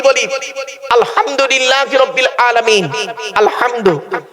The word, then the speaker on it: আলহামদুলিল্লাহ: গলার ভেতর থেকে হেটা উচ্চারণ করবেন। আলহামদুলিল্লাহ। মানে হচ্ছে সমস্ত প্রশংসা আল্লাহ তোমার। আর আমরা নামাজ পড়তে উচ্চারণ করে কি করি? আলহামদুলিল্লাহ। এর মানে শুনবেন সমস্ত ছেড়া জামা কাপড় আল্লাহ তোমার।